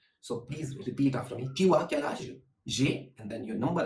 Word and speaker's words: tu as quel âge: Tu as quel âge?